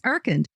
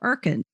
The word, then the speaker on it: Urkund: Today's sponsor is Erkend.